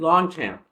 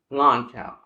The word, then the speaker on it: Longchamp: And so, again, I've always said Longchamp. It's not Longchamp. It is Lon, don't pronounce the G, Cham, don't pronounce the P, Longchamp.